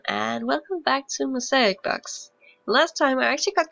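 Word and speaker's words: Bach: and I was right he was German but it wasn't pronounced bash but B Johan Sebastian B but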